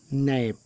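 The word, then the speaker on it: knap: फिर वर्ड कह लीजिए, किसी शब्द में एन से पहले के साइलेंट रहता है, एन से पहले के साइलेंट रहता है। जैसे नैप, नैप में देखें ये यन से पहले के आया है, तो यहाँ पर के को नहीं पढ़ा गया है।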